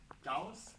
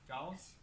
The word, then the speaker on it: Gauss: you might know people okay so cows the German sharp s English like this so that's cows hold on probably the